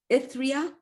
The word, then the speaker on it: Ithriyah: Now, you are also, and I won't be able to pronounce this last name, but you're the writer, director, producer at Roads of Ithriyah. Ithriyah?